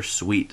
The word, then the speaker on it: suite: Continuing the Christmas theme, we have Angelina Ballerina, The Nutcracker Suite. Suite is spelled S-W-E-E-T.